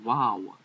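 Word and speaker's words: vav: here to explain that in modern hebrew it was uh is a v but in ancient hebrew is an o sounding u sound or a sound this next letter o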